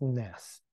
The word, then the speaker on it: NESS: non-equilibrium steady state so we abbreviate this as Ness and we pronounce this as nest and the general setting